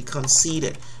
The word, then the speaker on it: conceited: it's going to be conceited conceded all right you see the word the the letters e and I over here they gave us a long e sound like e sound all right don't let